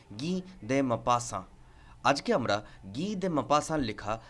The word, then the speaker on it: Guy de Maupassant: all time হিসেবে আর তার নামের প্রপার প্রোনাউন্সিয়েশন হলো গিদে মাপাসা আজকে আমরা গিদে মাপাসার